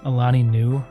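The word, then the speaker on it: Alani Nu: Is it Alani? Alani new like new meadow.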